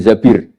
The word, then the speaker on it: Zabir: nikah sama Abdurrahman Bin Zabir di di hadis ini bukan bacanya bukan Zubair tapi Zabir Abdurrahman Bin Zabir tapi